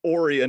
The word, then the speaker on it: Orion: animated series the pirates over ryan or orion as they pronounced it in the episode i watched